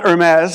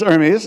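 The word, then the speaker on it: Hermès: the Hermes was, and some people were pronouncing it like the French tie company rather than Hermes. So it's not Hermes, it's Hermes, you know.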